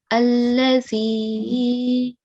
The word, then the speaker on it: الذي: It is carrying the stroke of kasra, so it makes this ya sakin ya mad. Okay, ya of elongation, and the rule for ya of elongation is to prolong for 2 seconds. So this should be allazi.